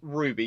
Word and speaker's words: RWBY: the way up to rwby ruby depends on who you are and how you pronounce it but yes ruby yes that's how it's pronounced i know y'all know